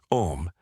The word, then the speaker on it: Om: Om like home without the h.